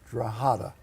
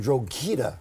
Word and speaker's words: Drogheda: Drogheda.